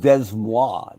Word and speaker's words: Des Moines: It's pronounced Des Moines. It's French.